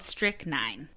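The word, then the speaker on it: strychnine: So, this next one, I actually googled the pronunciation. Okay. Okay. It's called strick nine.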